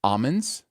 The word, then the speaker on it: almonds: the show but it's almonds uh that you do not the l is silent uh just want to